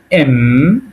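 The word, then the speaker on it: М: আ এটা হল কা এটা হল এম রাশিয়ান ভাষায় আমরা এটাকে বলব এম উচ্চারণ হবে ম এর মত।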